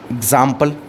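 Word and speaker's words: example: आपको sound x आएगा कहीं कहीं एक्स का साउंड आपको जा भी देखने को मिलता है जैसे आपने देखा एक है एग्जांपल क्या है यहां पे एग्जांपल एग्जांपल alright एग्जांपल एग्जांपल में आपको जो जा है वो एक्स जो है वो ज की तरह नजर आएगा ज ज जहां प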